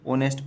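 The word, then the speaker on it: honest: है ईमानदार बॉय लड़का ऑनेस्ट में क्या है एच साइलेंट रहता है कुछ वर्ड है जहां जैसे सुनामी में टी टी सुनामी रहता है है ना पर टी साइलेंट रहता है उसी तरह से यहां ऑनेस्ट पढ़ा जाता है एस साइलेंट रहता है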